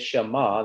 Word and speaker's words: Shema: 20 hebrew words but this word here is shama that's how you pronounce it that's how uh the hebrews pronounce it and when we get